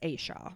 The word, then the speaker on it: Asha: It's Asha is how it's spelled, but it's Asha.